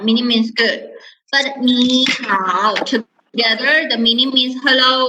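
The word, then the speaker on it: 你好: You have to change the first word 你 into second tone when you read. So the voice is 你好.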